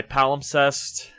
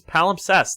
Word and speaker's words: palimpsest: be talking about why palum sest is the best worst palum palest is the best pal no it's palimpsest there's s s s holy shit I've been pronouncing this wrong all pal possessed by